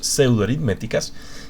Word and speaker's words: pseudoaritméticas: No sé, como en psicología la P no se pronuncia, no es pseudoaritméticas.